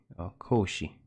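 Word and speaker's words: コーヒー: in elegant tea ceremonies cause she Cauchy the Japanese pronunciation for coffee coffee cause she a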